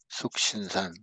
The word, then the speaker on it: 숙신산: 그 다음 단계로 넘어가는 게 숙신산. 어떤 책에는 보면은 석신산이라고 나온 것도 있습니다. 근데 영어에 SU를 석이라고 할 수도 있고 수라고 할 수 있기 때문에 그건 발음 차이기 때문에 그건 상관없고요.